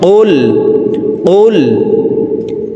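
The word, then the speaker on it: قل: কফের উচ্চারণ জিহ্বার গোড়া তার বরাবার উপরের তালুর সঙ্গে লাগাইয়া উচ্চারণ করে পড়তে হবে। তো এই পেশওয়ালা কফটি জজমওয়ালা লামকে একবার ধরবে। কফ লাম পেশ কুল কুল হামজা জবর আইন ওয়াও পেশল পেশু আউ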